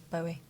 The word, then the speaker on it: Bowie: Bowie rhymes with Zoe. Yeah. Bowie.